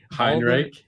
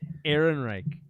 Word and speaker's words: Ehrenreich: Heinrich. Ehrenreich. Ehrenreich.